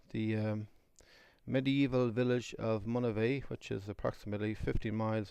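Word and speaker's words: Monivea: the name mon uh which is spelled m o n i v EA monave is if it's translated into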